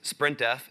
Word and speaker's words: sprintf: In this case, I'm going to use sprintf. And yes, I know it's pronounced sprintf, but I like saying sprintf.